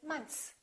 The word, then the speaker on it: months: really say much months they kind of eliminate the th and they just say months one month two months